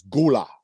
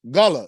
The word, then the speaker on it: Gullah: people do pronounce it gullah so if you say gullah you're not really saying it wrong it's just you're saying it in another way but it's it's called